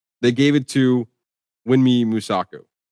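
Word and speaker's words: Mosaku: I think who should win is uh W Man Wumi Musaku. I I feel like I'm keep pronouncing her name wrong. WMI Musak Musaku.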